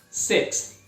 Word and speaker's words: sixth: Sixth. Sixth. Outro choque aí difícil de fazer, né, o six, o S mais o TH, sixth.